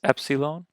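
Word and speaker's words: ἒ ψιλόν: a Delta de next Epsilon eh makes an e sound ah Zeta the ah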